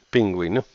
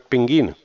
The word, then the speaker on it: pingüino: por ejemplo pingüino pingüino pingüino pingüino ahí se usa la diéresis porque aquí si se pronuncia la u vale No es pinguino paraguas a ver paraguas